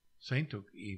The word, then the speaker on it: Tsatoke: in Cairo saintoki so when they said what Saint took e that's my name and so I guess they